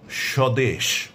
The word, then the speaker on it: স্বদেশ: যদি শব্দের বা পদের প্রথম ব্যঞ্জন বর্ণের সঙ্গে বফলা যুক্ত থাকে তাহলে পরে সে বফলার কোনো উচ্চারণ হবে না, তবে বফলা যুক্ত বর্ণটির উচ্চারণে সামান্য শ্বাসাঘাত পড়বে।